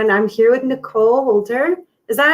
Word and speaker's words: Wolter: I am and I'm here with Nicole Wolter. Is that how you pronounce her last name?